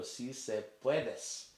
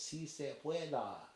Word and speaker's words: sí se puede: I say it wrong first of all. I go si se puedes, and then invariably somebody will correct me and say no, it's si se pueda, and I go, can you say it for me?